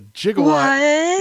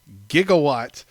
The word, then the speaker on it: gigawatt: who mispronounced the gigawatt instead of using the hard G and used the soft G the J sound jigawatt is kind of